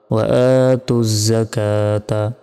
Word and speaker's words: وآتوا الزكاة: কা, তা জবর তা, ওয়া আতুজ যাকাতা, থামলে, ওয়া আতুজ যাকাহ, থামলে এই গোল তার উচ্চারণ হবে না, এখানে ছোট আর উচ্চারণ হবে, ওয়া আতুজ যাকাহ।